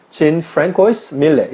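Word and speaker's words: Jean-François Millet: 그래서 자, 이게 영어로 발음하면 Jean Francois Millet 이렇게 이야기해야 됩니다.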